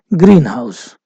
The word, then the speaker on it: greenhouse: the stresses on the first one we say Greenhouse the house uh Greenhouse um which is a